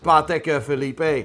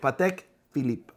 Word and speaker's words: Patek Philippe: mate felipe 100 he's doing this on purpose pateka felipe patek philippe richard milley richard mill you called it richard